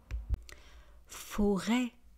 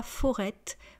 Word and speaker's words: forêt: Forêt, une forêt des forêts. Forêt. Une forêt des forêts. Vous voyez, on ne prononce pas le t final. On ne dit pas forête, on dit forêt.